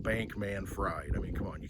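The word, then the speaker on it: Bankman-Fried: FTX Sam bankman fry that's how it's spelled it so I'm gonna say it Bank man fried I mean come on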